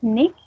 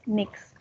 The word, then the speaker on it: nichts: Dann macht nichts. So that is nichts oder nix. Some people pronounce it as nix. Like nix.